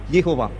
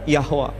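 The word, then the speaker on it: יהוה: Sementara bahasa Ibrani, pronunciation-nya Yod, He, Vav, He, Yehovah. Yehovah, kadang Yahweh.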